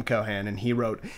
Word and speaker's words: Cohan: did you like that just like that nice pronunciation he only says like eating all the times the movie it's cohan oh I'm not gonna make fun of him